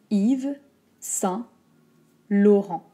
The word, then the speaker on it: Yves Saint Laurent: y es ensuite on a attention trois mots yves saint laurent if i ve il on s'arrête comme si